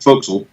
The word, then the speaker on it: forecastle: as we call it it's spelled forecastle but we called it fo'c'sle with coming on and